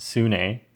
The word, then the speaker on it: Sune: this OLL case is called sune or more correctly pronounced soo-nay But please just call